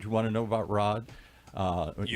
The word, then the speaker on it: Raad: And one question that came up which I never thought about is the the name it looks like it's Rad but it's spelled it's pronounced Rod.